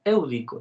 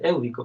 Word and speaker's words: Éudico: Fíjate, Sócrates dice, ciertamente, Éudico, sí que lleva un acento en la E, pero me resulta más feo decir Éudico, pero bueno, ciertamente, Éudico, hay algunos puntos de los que ahora Hipias ha hablado.